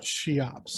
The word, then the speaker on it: Cheops: inside the grand canyon wow um apparently it's pronounced cheops sorry i just wanted to she ops i looked it up that's how it's pronounced